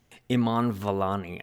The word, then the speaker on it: Iman Vellani: Iman Vellani, I think, is the correct pronunciation.